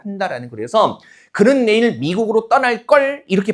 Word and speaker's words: 떠날 걸: 실제 발음을 된소리로 하거든요.